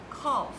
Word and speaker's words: cough: OK, next one, 咳嗽，来一起念 cough, cough。